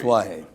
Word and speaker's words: Tatuaje: The most incorrectly pronounced probably name in the cigar industry. Tatuaje. All right, Tatuaje, which is